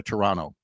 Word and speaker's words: Toronto: So, give the boys a break, but first they got to go to Toronto, which is how they say don't pronounce another T.